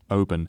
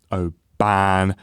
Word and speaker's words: Oban: quickly and say that we get this pronunciation horribly wrong uh throughout this entire pilgrimage um so um sorry it's uh Oben not Oban as we will continue to say um very frustratingly I